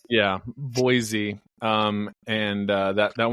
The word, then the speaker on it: Boise: about when someone uh comes at you with a boy Z oh yeah Idaho yeah no that's like it's spelled b o y z yeah Boise um and uh that